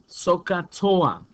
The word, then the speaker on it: SOHCAHTOA: have a phrase okay and this phrase is pronounced sohcahtoa okay so you remember sohcahtoa you can remember all three ratios okay here's